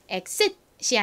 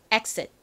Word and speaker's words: exit: 강세가 단어의 앞쪽에 있어요. 그래서 exit이 아니라 exit. exit. 이렇게 앞부분에 힘을 빡 주셔야 됩니다.